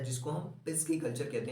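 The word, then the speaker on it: pisciculture: पूछा जाता है जनरली, जिसको हम कहते हैं पिस कल्चर। क्या? पिस्की कल्चर। क्या कहते हैं उसको? हम पिस्की कल्चर कहते हैं।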